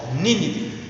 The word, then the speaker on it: Nínive: Muitas vezes eu quero falar essa expressão Nínive bem perfeito, porque tem um acentinho no i, tá? E quando a gente tem um acento agudo, a gente pronuncia primeiro forte. Nínive era a cidade de Nínive, tá?